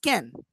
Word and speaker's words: can: On a stressed form of words like can, in this case, you know that can is pronounced can, like very quickly.